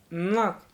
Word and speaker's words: NoC: Notes this article use is the convention that NOC is pronounced knock.